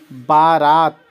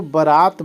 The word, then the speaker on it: बरात: अधीर होता है और बारात बारात नहीं होती बारात होती है शादी ब्याह में जो जाती है उसको बरात बोलते हैं बरात बारात नहीं बरात बरात और आधार आ